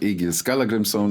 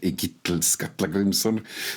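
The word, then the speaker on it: Egill Skallagrímsson: For example, the kings that appear in the saga of Egil Skallagrimsson, and I'm pronouncing him the old way, not in modern Icelandic, what Egil Skallagrimsson, they would just kick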